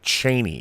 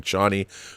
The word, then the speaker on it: Chani: Actually, it's actually Chaney is the proper pronunciation of her name, even though we've all been saying Chani for a long time, just like we were saying Harkonnen until this movie, Harkonnens.